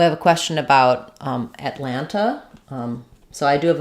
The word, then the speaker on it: Atlanta: the te's yeah and people native speakers who live there might say Atlanta Atlanta um uh this is an unreleased tea Atlanta Atlanta Atlanta they don't really do Alanta I don't think I don't think they drop it entirely this one does get